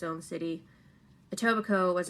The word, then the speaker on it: Etobicoke: note uh it's pronounced etobicoke not ibatoki or ebit coke it's etobico i know there's a k in there it's weird and scarborough kind of